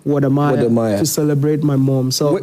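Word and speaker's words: 我的妈呀: Is that how they pronounce it? WODEMAYA? WODEMAYA, yeah.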